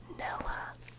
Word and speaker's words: Nella: And her name is Nella. I love that. Nella, you have permission to fall asleep now. She specifically told me it's pronounced as in salmonella.